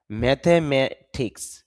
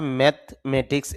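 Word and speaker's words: mathematics: Material ম্যাথেমেটিক্স যদি আমরা ম্যাথমেটিক্স এভাবে বলে থাকি তো শুদ্ধ উচ্চারণ হবে ম্যাথেমেটিক্স গণিত ম্যাটার বিষয় ব্যাপার বা গুরুত্ব দেওয়া।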